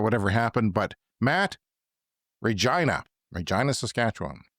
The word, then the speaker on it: Regina: Maybe he was confused because it rhymes with vagina. It's Regina.